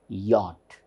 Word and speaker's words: yacht: consonant so this becomes yacht yacht so this is yacht so we should not get confused or misled by seeing the spellings CH is not yacht it is not yacht it is yacht next one this word